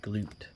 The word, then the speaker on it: Glut: looking at mr uh glute i always thought his name was glut but it's pronounced glute his parents right he's